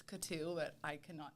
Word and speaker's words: Coutu: So how do you pronounce it, so everyone? It's Coutu. Coutu. Technically, it's Coutu, but I cannot say that, so I just say Coutu.